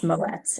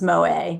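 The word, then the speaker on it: Moët: I said Moa, but it's Moets. It's Moet and Shandon. So, there was actually a Saturday Night Live skit about that. Um, Moets versus Moa.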